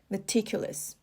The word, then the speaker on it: meticulous: say the person is meticulous all right so the stress is on the second syllable meticulous and example sentence the